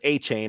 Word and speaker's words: Achane: I've seen NFL Network has it listed as A-Chain as their official pronunciation.